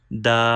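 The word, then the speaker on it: د: Start using tip of tongue by touching gums of front two teeth. From here we can pronounce dal.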